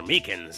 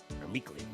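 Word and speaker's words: Meekins: Actually, Officer Meakans at the detention center told us.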